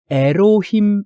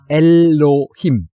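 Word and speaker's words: אלוהים: 남 엔드의 발음이 날 엘로힘 이라는 단어를 배우고 있는데 에로우 힘 이라고 하면 안되고 엘로힘 이렇게 바르면 을이 을 이렇게 요 거실 아메드 에 발음입니다 아까 이제 수녀님이 의미를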